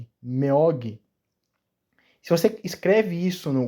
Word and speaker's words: 먹이: A pronúncia seria Meog.